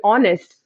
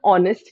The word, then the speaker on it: honest: just like honorable right in honest we do not pronounce this letter H so the first sound of this word honest is a vowel sound